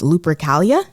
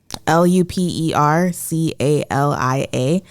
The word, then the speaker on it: Lupercalia: say the word, so I apologize, but it's Lupercalia, Lupercalia, which is a holiday that celebrates fertility. It was thought to have been celebrated between February 13th and February 15th. Okay, so Lupercalia is a holiday where the men would strip